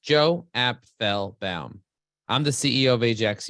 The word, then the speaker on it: Apfelbaum: My name is pronounced Joe Apfelbaum.